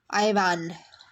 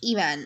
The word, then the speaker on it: Evan: to the next question see somebody pronounce it as ivan ivan it's wrong it's iman okay then what did